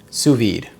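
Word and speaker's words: sous vide: Suvid.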